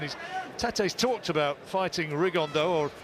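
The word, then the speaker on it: Rigondeaux: tate's talked about fighting rig on though or as he's correctly pronounced with the spanish accent rig on dao and two absolute geniuses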